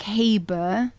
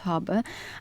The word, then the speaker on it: Haber: of a boat or ship No it's like habber but it's pronounced harber and you can find me everywhere really there's